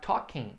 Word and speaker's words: talking: They are talking now. Excellent. Lembra que esse verbo aqui, o L não é pronunciado, não é talking. É só talk.